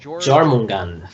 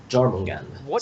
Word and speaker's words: Jormungand: Akamaru, would you like to take how do you pronounce this thing? Jormungand. That's how I pronounce it. Jormungand.